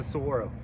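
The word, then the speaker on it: saguaro: arms yeah yeah yeah that's a Soro there's a g in there but you don't pronounce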